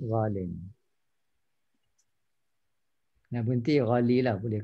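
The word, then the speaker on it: غالٍ: Sebab tu just to inform that originally is ghaliyun, but you don't write ghaliyun. You write ghalin. You pronounce ghalin.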